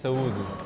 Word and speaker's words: Saúde: Saúde.